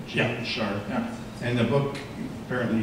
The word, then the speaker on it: Gene Sharp: Gene Sharp.